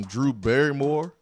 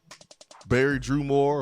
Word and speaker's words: Drew Barrymore: This would be great with some Drew Barrymore or Barry Drew Moore or whatever her name is. You said it right the first time.